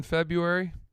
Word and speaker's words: February: A lot of people just ignore that R.